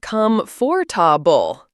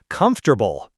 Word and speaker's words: comfortable: Saying comfortable as come forable. Haha. Yeah, it looks that way when you read it, but native speakers usually pronounce it more like comfortable, right? It kind of gets squished together, and that's okay.